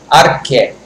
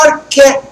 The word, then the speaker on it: arché: A primeira coisa é uma palavra que se chama arché. O que é o arché? Se escreve A-R-C-H-E.